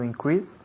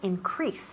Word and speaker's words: increase: To increase. Muy bien, good. To increase. Repeat. To increase. Muy bien. To increase. Fijaos bien dónde ponemos el énfasis. Pues recae en la segunda sílaba. To increase.